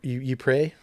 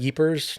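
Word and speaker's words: Ypres: they live in uh the Euprey I always pronounced it wrong like okay I'm not super familiar Bell but yeah they call it yepers.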